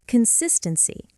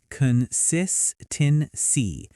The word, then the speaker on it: consistency: Next, consistency. Con-sis-ten-cy. The stress is on the second syllable, consistency.